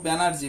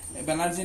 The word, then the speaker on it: ব্যানার্জি: হর্ষস্বর চিহ্ন কি কি হবে দেখো, ব্যানার্জি, ব্যানার্জি বলার সময় আমরা রস্বীকার না বলে দীর্ঘিকার বলে ফেলি, ব্যানার্জি। হ্যাঁ, ব্যানার্জি নয় কিন্তু আসলে উচ্চারণ হবে ব্যানার্জি।